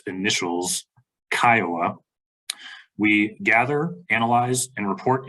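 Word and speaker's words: CCIOA: We provide information to homeowners regarding their basic rights and responsibilities under the Colorado Common Interest Ownership Act, commonly pronounced by its initials, KIOA.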